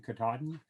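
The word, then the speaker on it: Katadyn: like a Katahdin filter, and that's spelled Katahdin, K-A-T-A-D-Y-N, but spoken Katahdin, like Mount Katahdin in, where's that, Vermont or New Hampshire.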